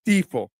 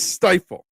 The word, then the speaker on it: Stifel: it never occurred to be pronounced stifel um no it's stifle um I don't know